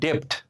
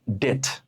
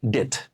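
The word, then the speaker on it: debt: আমরা ঋণকে ইংরেজিতে বলি ডেপ্ট, কিন্তু এর উচ্চারণ হবে কি জানেন? ডেট। এর উচ্চারণ কি হবে? ডেট।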